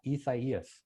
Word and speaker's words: Isaias: replaced iac in two out of 2008 it's pronounced isaias as we all probably have learned by now